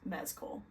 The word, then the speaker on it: Mescal: which I just learned his last name is pronounced mesco so and that's from Paul himself so don't